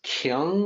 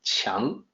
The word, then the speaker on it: Qiang: I know people will look at that as Kiang or Quang, or they'll come up with their own pronunciation, but the Q sounds like CH, so it's actually more like Qiang.